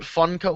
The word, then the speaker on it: Funko: Funko Pop figures but Funko Funko is spelled like the word funky but with an O at the end instead